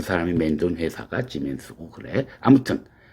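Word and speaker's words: Siemens: 그러니까 S는 지금 발음은 지멘스야. 이거는 우리가 알고 있는 그 지멘스라고 하는 뭐 가전제품도 만들고 그런 회사 그 지멘스야.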